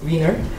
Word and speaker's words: Wiener: So I know the correct pronunciation is Wiener, so I'm going to use that.